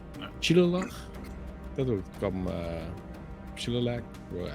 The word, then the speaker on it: Shillelagh: Shilalach? Dat would come Shilalach? Well, I'm never sure how to pronounce that. Shillelagh. The druid Shillelagh. Shillelagh? Yeah, that's Shillelagh.